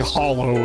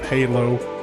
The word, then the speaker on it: hallow: I've been saying hollow instead of Halo. Hollow. How as in hallucinate.